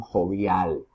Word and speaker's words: jovial: Vamos a ver con jovial, jovial. ¿Ok? Aquí, ¿dónde está la mayor pronunciación? En la última sílaba, jovial.